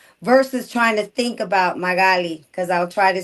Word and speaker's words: Magali: If you speak Spanish, Mm-hmm. it's Magali. If you don't speak Spanish, the easiest way is Magali. Like Natalie, I always say like Natalie, but Magali.